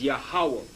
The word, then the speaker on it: Yahawah: true Hebrew pronunciation of the Divine essential name yah ha and he has his name the yah the ha the W and the ha which is yahawah they have a Jehovah